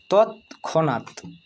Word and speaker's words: তৎক্ষণাৎ: তৎক্ষণাৎ ত খণ্ডিত তৎ খনাত, ক্ষয়ে মূর্ধন্যস্য মূর্ধন্যয়ে আকার খণ্ডিত, তৎক্ষণাৎ, অর্থাৎ একসাথে উচ্চারণ করব তৎক্ষণাৎ, তৎক্ষণাৎ।